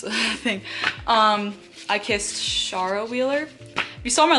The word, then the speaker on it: Shara: last video you know i literally like had been pronouncing it as sarah the whole time in my head and then i realized it's not sarah anyways so yeah last